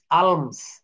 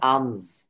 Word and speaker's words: alms: ALMS, আলমস, আলমস, দেখছেন আলমস, কিন্তু এখানে আমস, আমস।